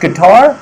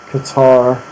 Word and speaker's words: Qatar: Is it pronounced guitar, like the musical instrument? Qatar. Yes, the great, odd country of Qatar.